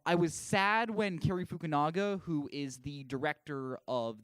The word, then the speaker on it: Fukunaga: Yeah, and I believe Cary how do you pronounce it? Cary Fukunaga. Fukunaga, yeah.